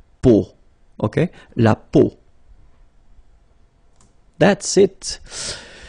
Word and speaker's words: peau: three vowels combined together, it's the sound O. Okay, so really simple, O. Okay, so you get la peau.